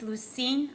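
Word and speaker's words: Lusine: and you just state your name and then spell it for me please my name is lucine l-u-s-i-n-e you guys hearing her okay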